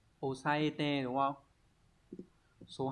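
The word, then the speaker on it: 押さえて: Số 1, đây là chữ áp, cái này sẽ đọc là osaete, đúng không?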